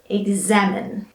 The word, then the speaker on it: examine: into two with X and mine alright it's examine looking at word number three and you have